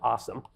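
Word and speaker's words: OSAM: yesterday just starting up called awesome OS AM pronounced awesome which is open source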